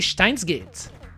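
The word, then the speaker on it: Steins;Gate: I like how you pronounce Stein. Very German for me. Yes, I pronounce it Steins Gate. Steins Gate. Pretty sure it's the way to pronounce it, right?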